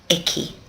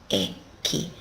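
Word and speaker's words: 駅: the train station there's the Ki and it's pronounced eki eki the train station and most people in Japan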